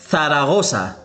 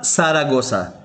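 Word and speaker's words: Zaragoza: مثلا ثاراغوسا، ثاراغوسا وليس ساراغوسا وهي مدينة ساراغوسا.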